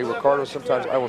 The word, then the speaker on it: Ricardo: inside leg there by Ricardo. Sometimes you're going to hear Boss Rutan say Ricardo, sometimes I will say Ricardo. In Brazil, they pronounce the words that begin with an R with an H sound.